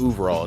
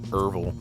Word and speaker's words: Overall: It's Overall, not Erval, but I like saying Erval. But it's Overall.